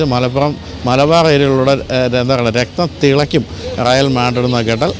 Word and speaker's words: Real: പിന്നീട് രാജാവാണ് ഇതിന്റെ പേര് റയൽ മാഡ്രിഡ് എന്നാക്കിയത് റയൽ എന്ന് പറഞ്ഞാൽ റോയൽ എന്നുള്ളതാണ് നമ്മൾ പലപ്പോഴും റിയൽ മാഡ്രിഡ് എന്ന് പറയും പക്ഷെ അങ്ങനെയല്ല റോയൽ എന്നുള്ളതിന്റെ സ്പാനിഷ് ഒരു ഉച്ചാരണമാണ് റായാൽ എന്നുള്ളത് ആ പേരാണ് ഇപ്പൊ നമ്മൾ ഉപയോഗിച്ചു